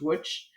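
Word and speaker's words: Łódź: from Frankfurt to the witch ghetto it's spelled l-o-d-z and pronounced witch um to the witch ghetto in Poland and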